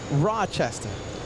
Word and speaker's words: Rochester: I pronounce it Rochester. Rochester. What did you say? Rochester. Almost exactly the same Rochester, thing.